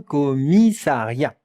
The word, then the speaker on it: commissariat: Un commissariat. Un commissariat. Regardez, c'est un nom masculin. Un commissariat. Et maintenant, la prononciation. Co, not co, not co, co. Commissariat.